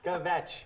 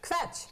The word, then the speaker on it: kvetch: Kvetch. Kvetch. Kvetch. Kvetch. One syllable. One big Kvetch.